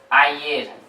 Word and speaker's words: ayer: Or ayer. Yo means I, ayer means yesterday.